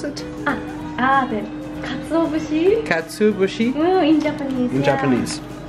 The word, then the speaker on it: katsuobushi: How do you pronounce it? The katsuobushi.